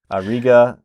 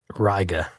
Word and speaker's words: Riga: Or is that pronounced? That's Macon. Wrong. Macon. Yeah, that one I know is different. Riga, Seneca, and Jasper. Nope. Riga.